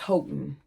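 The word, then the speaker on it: Houghton: Is it Hon? Alexa, how do you pronounce H O U G? H T O N. There she goes. Not working again, y'all. Hold on. Okay. According to Alexa, it's H Hotton.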